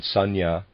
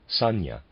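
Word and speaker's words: sanjna: on Karma readers aside Sanya I'm pronouncing it that way is spelled s-a-n-j-n-a my apologies if I'm still pronouncing that wrong end of readers aside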